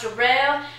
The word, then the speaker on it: Daryl: It's spelled Daryl, but it's pronounced Jarrell.